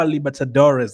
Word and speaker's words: Libertadores: under under 20 copper Libertadores. Uh Libert why do I always have a problem saying that name? Copper Libertadores. That's how you say it.